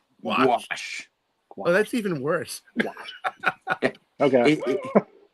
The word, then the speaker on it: gouache: I've been saying gauche all this time. That's which what I've been I thinking. know is very gauche of me. Gouache. Yeah. Gouache.